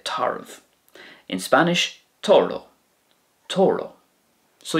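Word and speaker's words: tarbh: That could be pronounced taru as well, but I would say tarv.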